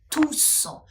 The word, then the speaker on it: tous: в французькій фразі то с в кінці слова вимовляється тусо тусо усі і давайте